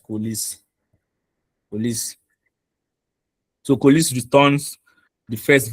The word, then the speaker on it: coalesce: Coalesce, how is it pronounced? Coalesce.